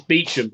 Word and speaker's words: Beauchamp: It's Beecham.